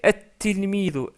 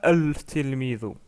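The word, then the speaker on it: التلميذ: Et on a doublé la lettre ta. Du coup, on prononce at-tilmidu et non pas al-tilmidu. Donc, at-tilmidu. On prononce même pas le lem.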